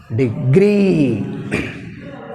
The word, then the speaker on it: degree: Degree. Pronunciation is very important. మనం దాన్ని గట్టిగా పలికితే తప్ప ఇది అర్థం కాదు. Degree. Here we have stress on second syllable.